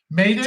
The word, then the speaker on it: Métis: It's Métis.